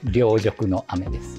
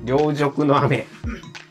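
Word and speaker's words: 凌辱の雨: C'est Ryojoku no Ame. Ryojoku no Ame Le kanji pour 'Ryo' dans 'Ryojoku' a le radical 'Nisui'.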